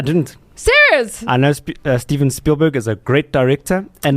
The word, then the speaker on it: Spielberg: musical, and then in 2021 they released Steven Spielberg's reimagination. Don't know what word I was just about to say. This is playing the pronunciation of his name. Spielberg.